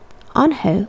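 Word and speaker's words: Unhei: he asked her with his eyes open wide angel looked quickly at mr kim then turned to joey she nodded slowly yes it's pronounced ange and it means grace mr kim added on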